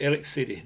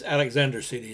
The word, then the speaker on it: Alexander City: to go down to Eric city now that's Alexander city is the real pronunciation of the word everybody around here just calls it Eric city had to go down